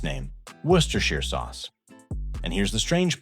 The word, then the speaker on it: Worcestershire: If you try sounding it out, you might say something like Worcestershire, but that's not even close. The correct pronunciation is more like Worcestershire. It comes from Worcester, a historic city in England, and like many English place names, the spelling doesn't match the way it's spoken.